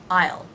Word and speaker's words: I'll: aisle I oh oh that dark L sound on the end i will i'll i will be there